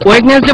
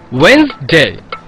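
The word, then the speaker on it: Wednesday: আছে আবার কি সমস্যা ওয়েডনেসডে বলে তো কোনো শব্দ নেই উচ্চারণটা হবে ওয়েডনেসডে ওয়েডনেসডে By the way, তোদের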